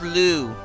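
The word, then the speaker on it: Lugh: think yeah lou actually now that i checked the manual yeah it's pronounced lou his name but you gotta make sure you have all the legendary weapons by the end of chapter 22.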